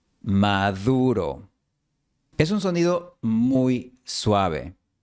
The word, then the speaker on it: Maduro: Ahora, la palabra maduro. No se pronuncia Maduro, sino Maduro. La D española aquí se pronuncia como la TH inglesa de mother, they o this. Maduro.